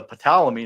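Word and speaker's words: Ptolemy: But uh yeah, we'll get into palamy now or however you say that. I think that's how you say to ple sorry you say the p or is it silent? It's like p is silent.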